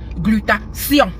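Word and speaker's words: glutathion: dans la technique d'expression, on m'a appris que T H I O N se prononce. comme s I o n. Donc ma chère, ça se dit glutation.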